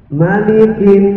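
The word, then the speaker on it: مَلِكِ: Malikin nas. Malikin nas. Banyak yang keliru antara surat Al-Fatihah sama surat An-Nas. Di maliknya dibacanya panjang. Malikin, namanya pendek. Malikin, ya, bacanya pendek. Banyak yang keliru bacanya malikin, maksudnya.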